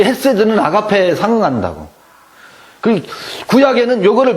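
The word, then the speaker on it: חסד: 그래서 해가 맞고, 요거는 우리는 그냥 헤세드라고 하는데, 요거는 원래 영어로 하면 KH예요. 그래서 헤세드예요. 네, 헤세드. 그래서 저는 이제 음력할 때 헤세드라고 않고 캐세드라고 해요.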